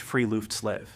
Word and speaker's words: friluftsliv: This is perfectly captured by the Norwegian concept of Friluftsliv, pronounced Friluftsliv, which literally translates to free air life.